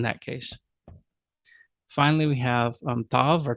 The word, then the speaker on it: tav: Finally, we have tav or tau.